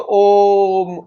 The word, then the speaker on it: ओम: और शब्द के रूप ओम का उच्चारण मैंने बताया आपको ध्वनि के रूप में अगर इस शब्द को बोलने की कोशिश कर तो ओम ओम पहले मुह खुलेगा आपको ओ बोलने के लिए होट खोलने पड़ते हैं मुह बंद करके